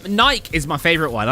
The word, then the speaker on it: Nike: There's an E at the end. Oh yeah, I'm going to go on a hikey later. I really likey a hikey on my bikey." Like, why would I pronounce the E when no other word pronounces the E.